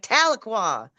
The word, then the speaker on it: Tahlequah: And we was like, "Tahlequah."